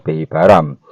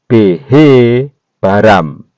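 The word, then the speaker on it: בהבראם: Jadi cara bacanya adalah behe baram. Ya, bukan behi baram tapi behe baram.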